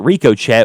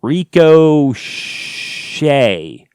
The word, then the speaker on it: Ricochet: who writes dear nero why do you pronounce it ricochet when it's pronounced rico shea i'm not really sure what this question is supposed to entail it's called the ricochet anti-cheat not the ricochet anti-shia it just sounds stupid it's called ricochet i i call it